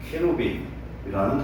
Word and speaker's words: 그룹: 이것은 우리 한글로 음역해서 해놓은 것인데, 실상 발음은 스랍은 세라핌, 그 다음에 그룹은 케루빔이라는 단어를 바꿔서 써놓은 거예요.